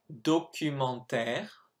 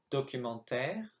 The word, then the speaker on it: documentaire: Documentaire préfère frère. Okay. So that's the three words you were supposed to write, and the sound, of course, is R. Documentaire, it's A-I-R-E to make that sound, and then in préfère